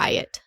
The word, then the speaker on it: Ryot: Did I pronounce that correctly? It's like Ryot.